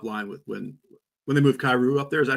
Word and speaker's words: Kyrou: Louis top line with when they move Kyrou up there. Is that how you pronounce his name?